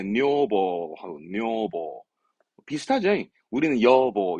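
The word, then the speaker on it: 女房: 발음 그래서 뇨보. 그래서 일본에서도 우리 와이프, 우리 아내 할 때 뇨보 하고 뇨보 비슷하죠?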